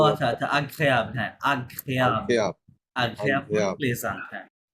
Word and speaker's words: agréable: Les printemps et automne et sorte execrable. এটা উচ্চারণটা কি হবে? সরি মিস্টার এই যে এগ্রেগেবল হ্যাঁ লাস্টের ও আচ্ছা আচ্ছা agréable হ্যাঁ agréable Agréable.